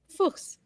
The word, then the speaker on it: Fuchs: Fuchs.